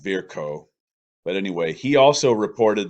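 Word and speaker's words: Virchow: then he and then it was virtuo probably pronounced verko but anyway he also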